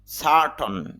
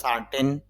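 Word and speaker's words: certain: centre কেন্দ্র century শতাব্দী ceremony অনুষ্ঠান উৎসব সার্টন যদি অনেকে বাংলা উচ্চারণ করার সময় বলে সার্টেন সারটেন না ইংলিশে আইপিতে খেয়াল করা যাচ্ছে যে সারটন তাহলে উচ্চারণটা হবে সার্টন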